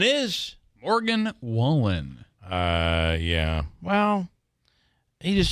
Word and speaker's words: Wallen: for Entertainer of the Year goes to Morgan whan all right here's the only problem uh with that that's Jeff Bridges and the CMA award for Entertainer of the Year goes to Morgan whan correct pronunciation is Morgan Wallen uh yeah well